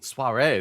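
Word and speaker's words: soirée: Suare in this city Suare that's how you pronounce it for you to make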